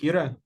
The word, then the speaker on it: Kira: That's just my name, and it pronounces like Right? Kira.